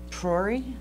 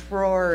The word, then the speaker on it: PRORI: It may be helpful to remember this acronym, PRORI. Just rolls off the tongue, right? Let's say it together, PRORI. PRORI. And it rhymes with my name, Lori.